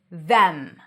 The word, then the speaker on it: them: When it's stressed, it's pronounced with a voiced th, the, tongue out, then e, as in red, and an m. Them. When it's unstressed, you can either pronounce it as them, no vowel. It's a schwa. It's reduced. The e is reduced to a schwa.